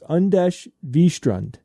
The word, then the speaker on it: Anders Wistrand: Uh but the ultimate winner here is Anders Wistrand and uh he said it's uh he gave me the uh the pronunciation and I wasn't even close guys. It's unes Vistrand you know but